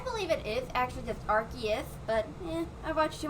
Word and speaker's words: Arceus: it is actually just arceus but yeah i've watched too much mj tv so i'm starting to pronounce it oculus because it's i think it's supposed to be based off of arc and zeus from a video i